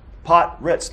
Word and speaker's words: Pottratz: name my last name it is pot res pot Ritz like a Ritz cracker look see that's pretty